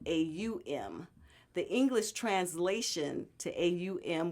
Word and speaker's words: Aum: But the actual Sanskrit spelling, which is an old Indian dialect, is spelled A-U-M.